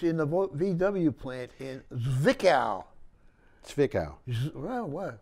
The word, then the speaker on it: Zwickau: And it's in the VW plant in Zwickau. Zwickau. Well, what? The German Z is pronounced like a... Zwickau. Like a TS. And Zwickau, huh?